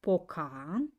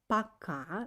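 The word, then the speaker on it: пока: for today is again pay attention that i don't uh pronounce this like pokhara i pronounce it like pakka because letter o is without accent uh paka in english means by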